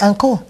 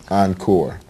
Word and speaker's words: encore: Yeah, anko. Anko, encore. Oh, nice. That's my dialect. I'm originally from the United States, of course, in Virginia. So my dialect would say encore.